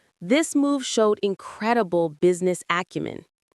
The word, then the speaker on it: acumen: must have great business acumen without a doubt. Let's look at the pronunciation business acumen. Business acumen. The stress on acumen is on the first syllable.